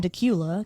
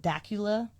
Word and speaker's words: Dacula: And so I say I'm from Decula because that's where I went to high school. That was a city that was like the most populated near me. And no one could ever say it right. They always called it Dacula.